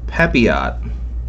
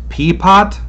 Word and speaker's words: Pepiot: It's P-E-P-I-O-T. I take that as Pepio or Pepiot.